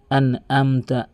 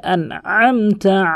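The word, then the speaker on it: أنعمت: এখানে আইন রয়েছে, দেখুন অধিকাংশ লোক বলে আনআমতা আলাইহিম, বলতে হবে আনআমতা আলাইহিম, এভাবে আনআমতা আলাইহিম, বারবার প্র্যাকটিস করবেন তাহলে আপনার হয়ে যাবে।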